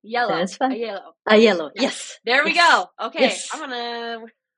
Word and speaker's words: Aiello: Aiello.